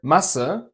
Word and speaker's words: Masse: Compare Masse, mass, with a short A, to Maße, measurements, with a long A.